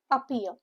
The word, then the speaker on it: appear: Syllable stress is on the second syllable. Per pronunciation says it is a u happier or pier. Appear. What does appear means?